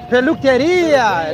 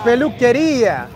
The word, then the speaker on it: peluquería: Peluquería. There we go. Peluquería.